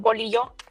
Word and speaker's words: bolillo: Bolillo. That's how I pronounce it.